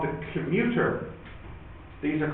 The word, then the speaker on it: commutator: But I think a lot of people say commuter. But maybe that's wrong. Maybe people should really say commutator. 2M. 2 M's, yeah. Commutator. That's better.